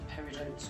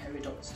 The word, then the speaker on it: peridot: so you could actually call them peridots or peridots depending on how you wish to pronounce that but really really beautiful